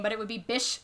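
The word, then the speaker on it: Bysshe: then why the is it spelled with a y i don't know but his name is percy bish shelly which i have like a pet peeve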